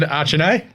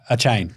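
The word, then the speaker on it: Achane: names continue please Dad Devin archanae uh no a chain a chance there's no I in there so actually it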